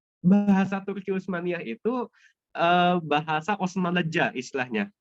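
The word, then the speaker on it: Osmanlıca: Bahasa Turki Utsmaniyah itu bahasa Osmanleja istilahnya, Osman Lica tulisannya, tapi bacanya Osman Leja.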